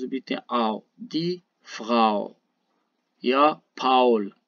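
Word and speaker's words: Paul: اگر آ و او چیر پشتا بیاین اشی تلفظ بیتیم آو آو نه؟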